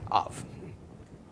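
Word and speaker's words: אב: first, but of course the aleph is silent. So then the Kometz, the av, the Kometz is pronounced, and then leftward to the bait with no dagish. So ah, and then v, av.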